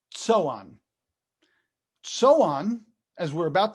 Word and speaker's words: Zoan: go to this map you see this zoan that's actually pronounced so on so on as we're